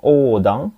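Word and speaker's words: 横断: Hati-hati, nomor 1 ini mirip ya, cuman bunyinya pendek. Ini hasilnya panjang ya.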